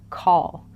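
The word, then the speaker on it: כל: So call. This word means all. Now this letter He is used in Hebrew words to mean to reveal. And when call is revealed, it's finished.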